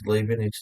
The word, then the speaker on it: Leibniz: Now, the chain rule is Leibniz notation.